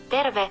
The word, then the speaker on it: terve: So terve is probably hello. Terve. Terve. Terve. It sounds like an extra syllable, terve, but it's probably just terve.